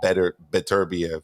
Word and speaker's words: Beterbiev: Yeah, I asked a Russian journalist, and he told me it's actually Beterbiev.